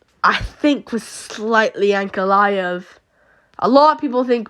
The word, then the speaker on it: Ankalaev: I actually feel for Ankalaev here. Funnily enough, that's how it's said.